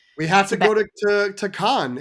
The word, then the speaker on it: Cannes: If you're an American, it's accepted that you say can.